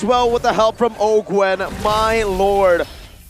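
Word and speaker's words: Owgwen: Ogwen gonna be chunked by Iman right now, doing some damage, but a knockup comes through again from Ogwen on his signature pick.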